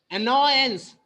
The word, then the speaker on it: annoyance: तो in this word annoyance, तो no पे we are focusing, we are emphasizing. However, हालांकि many people tend to stress the words on the first syllable.